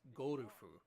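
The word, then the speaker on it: ゴルフ: with all due respect in japanese it's pronounced gorufu not not a it's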